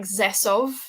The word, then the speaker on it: Rzeszów: It's spelled Rzeszów, but it's pronounced like Zesov, I think.